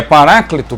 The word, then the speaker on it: paráclito: ao vocábulo original paráclito um proparoxítono cuja letra e na transliteração do grego deve ser pronunciada como se fosse i isso no isso é chamado até de iotas ismo então a letra É pronunciada Na transliteração como I por isso que eu estou falando paráclito alguém pode achar que eu estou falando errado porque tem o é não é paráclito m é paracleto tem o e Pois